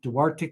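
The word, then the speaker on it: Duarte: She now is in I think it's pronounced Dwarte, California, where she's participating in a fellowship and at the UCLA Harbor Medical uh center.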